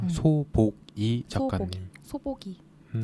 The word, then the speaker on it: 소복이: 소보기. 소보기. 소복인데 발음할 땐 소보기가 돼서 그렇군요.